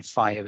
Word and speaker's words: FHIR: the information model and then the equivalent within fire is underneath um the prefix by fhir but it's pronounced by fire um which is actually red